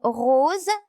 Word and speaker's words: rose: Dans le mot rose, S se prononce Z.